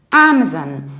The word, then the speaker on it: Amazon: Amazon with our Amazon so please remember we don't put stress on the second level but actually on the very first of all Amazon and what might be